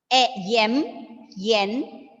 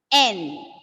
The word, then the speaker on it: N: you mark the triangle or a rectangle, like yen, right? Have you heard that? That is wrong, right? You have to pronounce the alphabet as M, N, then S.